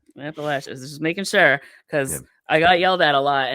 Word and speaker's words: Appalachia: my brain because they taught me how to say it properly because I'm British and I don't really know so I I don't know Appalachia that's how you say it right yeah it's appalache yeah appalache just making sure